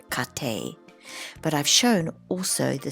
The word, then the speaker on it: 家庭: the first two characters they mean household they're pronounced kate but i've shown also the third one here